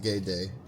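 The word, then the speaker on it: Gede: That's the Haitian Loa, spelled G-E-D-E, pronounced gay day.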